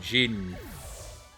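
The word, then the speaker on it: jinn: a genie because that's what genie comes from is is the the word jin um in arabic but we just call it genie because it's uh i guess easier for us to pronounce in the western world um oh i caught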